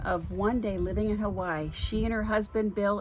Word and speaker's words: Hawaii: Hawaii is actually Hawaii. The W in Hawaii sounds like a V.